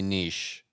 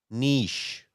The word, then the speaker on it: niche: I found the right way to say niche. And this blue woman says niche.